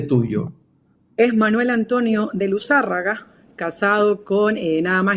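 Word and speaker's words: Luzárraga: luzarraga es palabr drj la tiada en la en la primera a de la del apellido O sea que Jorge tiene razón Yo lo venía pronunciando luzarraga y y no sé por qué ahorita dudé y la hice palabra grave cuando es esdrújula no luzarraga vasca por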